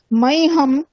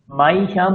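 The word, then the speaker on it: মহ্যম্: আর মাইহিয়া, হামের এই যখন আমরা উচ্চারণ করছি মাইহাম, মাইহাম তো না, নয় কি উচ্চারণ ভুল, মাইহিয়াম উচ্চারণ ভুল, মাইহিয়াম, মাইহাম হবে না, মাইহিয়াম, হিয়া হিয়া হিয়া, মাইহিয়াম মাইহিয়াম।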